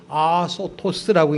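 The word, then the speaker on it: ἀσώτως: 이 헬라어 단어는 어떤 거냐면 아소토스라고 읽는데 어떤 거냐면 무잘지하게 살다, 낭비적으로 살다, 방탕하게 살다 이거예요.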